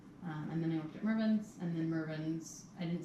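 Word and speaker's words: Mervyn's: Marvin's, was it pronounced Marvin's? No, I think there's a Marvin's also, Maybe. but that's It different. was Mervin's.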